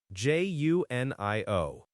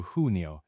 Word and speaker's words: Junio: J U N I O. Juno. Juno. Okay. The June in Spanish is like a strong two sound, right? So, hunio. And the U is like ooh in moon.